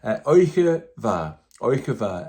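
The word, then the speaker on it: oidhche mhath: What is a Gaelic word without a D and an H? Just to make it look tidy, to give it a nice shape and a nice form, but it's not pronounced.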